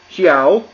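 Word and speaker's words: 小: Xiao Xia. So falling rising tone.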